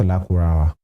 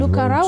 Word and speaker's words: Lakurawa: these guys are here, he pronounced Lakurawa. Yeah, but I've seen many persons. Lukarawa, I've seen Lukarawa. And they will be sounding like Lukaku.